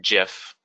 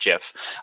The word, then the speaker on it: GIF: And it is pronounced GIF. GIF is pronounced GIF.